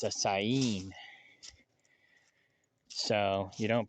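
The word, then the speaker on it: Saanen: I'm thinking I'm just gonna go with, I call it the Sonin, but I guess the first N is silent. I found that out last night too. It's not a Sonin, it's a Sain.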